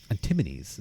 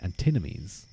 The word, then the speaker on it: antinomies: K called them antinomies antimonies sorry antinomies not antinomies antinomies I believe is a proper pronunciation threaten to undermine the